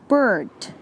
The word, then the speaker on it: bird: Be careful while pronouncing bird. Make an effort to pronounce the R and D at the end.